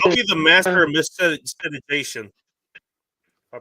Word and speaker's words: miscegenation: I'll be the master of miscegenation. I pronounce no it. deal. More plenty of Yeah. fish for bacon. Miscegenation.